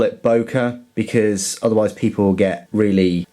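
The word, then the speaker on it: Böker: from for this video rather than uh bua because of the unlaw over the O and it is German after all let's just call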